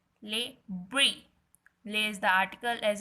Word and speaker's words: Le Brie: Its name is Le Brie. Le Brie. Le is the article as I told you earlier also. Brie.